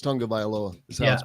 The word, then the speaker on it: Tagovailoa: it though isn't it I thought it was tagovailoa that's how it's spelled but I think it's Tonga by Aloha and tongue like with